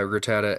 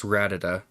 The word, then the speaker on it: Rattata: anyone else I know for years he said uh Rattata as Rida is it not Feebas